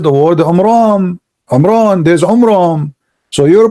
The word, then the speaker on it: Imran: First of all, the father of Moses, his name is not Umran, his name is Umram, according to the so he got the name wrong.